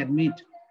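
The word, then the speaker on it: admit: যেমন দেখো এখানে এখানে যে এক্সাম্পলটা আছে, ধরো আমরা আমরা এটাকে বলি কি কন্ট্রোল, আমরা বলি কি অ্যাডমিট, আমরা বলি কি বিগিন, আমরা বলি কি কমিট। আমাদের উচ্চারণ দেখো, আমাদের উচ্চারণ প্লেন, আমরা ম্যাক্সিমাম সময়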